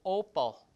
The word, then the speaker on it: opal: But in the other side you have the stress uh in the first word on the first syllable opus. Opus is like work magnum opus like uh big work like that. Opus is work right? Opel the stress is o opal like that.